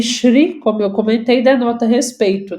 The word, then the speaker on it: Shri: Por exemplo, o Senhor Jesus, o Senhor, né, nas línguas indianas, eles pronunciam Shri, por isso a gente fala Shri Mataji.